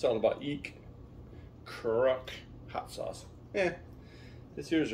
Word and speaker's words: chruk: and now we're doing a pronunciation of crook is crook so that's translated from the cambodian language of kamar to english means to pickle heat level hot chilies